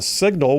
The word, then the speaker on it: Cygnal: And then from Montgomery, got picked up to work with Signal, which is spelled Cygnal, Signal Polling and Analytics.